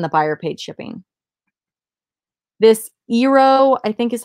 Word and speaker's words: Eero: This Eero, I think is how you say it. It's Eero.